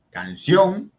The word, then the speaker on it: canción: Canción, ¿sí?, lleva la fuerza en la última sílaba, sion, y eso termina en N, lleva tilde.